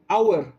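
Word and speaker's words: hour: কি ব্যাপারটা, যে অনেস্ট অথবা আর, আওয়ার, ওকে, অনেস্ট অথবা আর, এই যেটা এই দুটো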